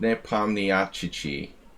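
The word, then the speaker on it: Nepomniachtchi: are you serious dude look how it's spelled it's like ne pomniacci all right hey it's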